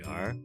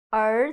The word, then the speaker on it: 儿: Take my hand as if it is your tongue. Put your tongue to the position when pronouncing and then curl it up a little bit.